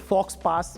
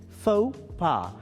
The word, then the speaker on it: faux pas: Is it fox pass or something? No, this is faux pas.